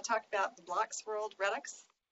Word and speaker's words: Redux: And I'm going to talk about the Blocks World Redux. Mark Steedman assures me that that's the correct way to pronounce this.